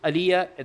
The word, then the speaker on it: Alija: Uh, his name is Aliyah. There's a J in it, but the J is pronounced Y.